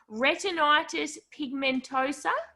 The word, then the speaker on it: retinitis pigmentosa: say this right this I'm a Tasmanian so pronouncing anything with more than three letters can be challenging retinitis pigmentosa that's correct look at me I've been practicing